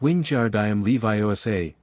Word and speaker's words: Wingardium Leviosa: You're saying it wrong, Hermione said after Ron's third failed attempt. It's wing jar leviosa, not I know, Ron snapped.